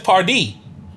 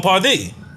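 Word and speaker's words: Pardi: rides away yep and party is spelled p-a-r-d-i well that's a very different thing that's part d yeah hey french like that john pardee yeah it might be yeah but if he said it like that no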